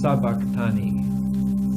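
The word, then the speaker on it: sabachthani: But this but the sound is sabakani.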